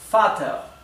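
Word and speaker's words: Vater: Por lo tanto, la V en alemán también adquiere la pronunciación de la F. Por ejemplo, la palabra para padre. La palabra para padre es fat.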